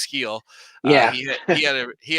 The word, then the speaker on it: Gil: Luis uh heel uh it looks like it's pronounced Gil but it's heel he he had a